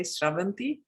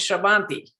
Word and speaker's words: Sravanti: I first have to say how nicely you say Sravanti. I have not heard a non-Telugu, Telugu is my mother tongue, a non-Telugu or a non-Indian ever say my name like that. And it is the correct way to say my name. So thank you, Brahm, for doing that. Everyone says Shravanti.